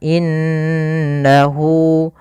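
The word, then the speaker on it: إنه: innahu pada lafal Inna ada bacaan gunah yaitu cara membacanya nnya ditahan innahu Kemudian pada lafal Hu adaah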